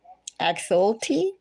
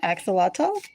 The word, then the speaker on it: axolotl: Do you pronounce it like Axolti?